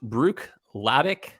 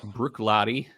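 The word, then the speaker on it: Bruichladdich: the island uh brooklady it looks like it's pronounced Brook lavik uh but it's pretty simple it's just Brook Lottie uh it's Gaelic for Shore Bank uh brooklady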